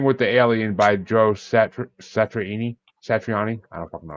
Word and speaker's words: Satriani: It's number 25 ranked Flying Saucer Rock and Roll by Billy Riley, or number 4 ranked, Surfing with the Alien by Joe Satriani.